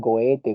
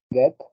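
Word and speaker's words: Goethe: Bueno, muchos le dicen goete, goete, gohete. Bueno, prefiero decir cohete, ¿no? Pero es get.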